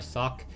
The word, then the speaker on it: Socke: His name is actually German, and I'm trying to pronounce how he actually says his name. I've been told that I pronounce his name well. I've been told that I don't pronounce his name well, but I'm trying to stick to how he actually says his name, which is Socke.